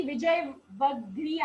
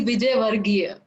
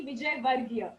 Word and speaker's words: Vijayvargiya: करते हैं, सीए विजय वग्रिया। आई am right with the pronunciation? No, यू are going to No, तो आप बताइए। it's C. Vijay Varghia. वर्गीय, ऑल राइट, सीए विजय वर्गीय।